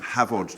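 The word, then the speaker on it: Hafod: It's on our Instagram, Havod Cheese, if any of you want to follow us on Instagram. H-A-F-O-D, F is pronounced V in Welsh.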